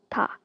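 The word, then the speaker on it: ㄷ: Next we have ta. It's like a D sound.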